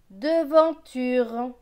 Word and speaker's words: devanture: D et E, de. V avec AN. AN c'est en, V et en, vent. T et U, tu. R et E, re. Donc ce mot va se lire de, vent, tu, re. Devanture.